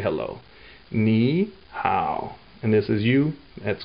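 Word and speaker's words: 你好: So together, it goes to second and third. So ni hao. That's how you say hello.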